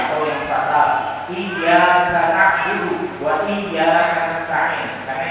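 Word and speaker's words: إياك: Iyyaka na'budu wa iyyaka nasta'in dibacanya tanpa tasydid, ya, yang harusnya hanya kepada mutlak ya Allah kami menyembah, dan hanya kepada mutlak ya Allah kami memohon pertolongan, tanpa tasydid.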